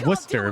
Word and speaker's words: Worcester: the reader two players I went to school in Worcester and so damage towards when I heard that that one was pronounced were chestershire I lost my mind because it's pronounced Worcester Massachusetts doesn't make any sense wait it's